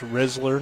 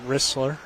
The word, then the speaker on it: Rizzler: Well, we did learn it is pronounced Rizzler, not Ristler.